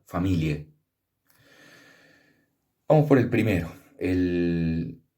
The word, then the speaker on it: familiae: era el status familiae, que se pronuncia familie.